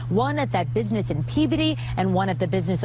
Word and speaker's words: Peabody: I know it's not Peabody. It's Peabody is how they pronounce it, I believe.